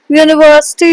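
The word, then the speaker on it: university: यूनिवर्सिटी unique ये सब start होते हैं वोवेल से। अह वोवेल साउंड नहीं होता है बट अ कसोनेंट साउंड होता है यू इन the beginning it is because of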